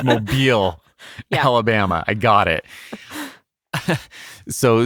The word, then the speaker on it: Mobile: I also am keenly aware of everything from, some very specific mispronunciations. I get it. Mobile. I'm so clear on it. It's Mobile, Alabama.